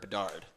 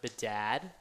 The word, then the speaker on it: Bedard: I don't have a problem putting him in any day, but especially against Eric Bedard. Bedard. Fine with that. It's actually pronounced Bedad. Bedad. No, it is not.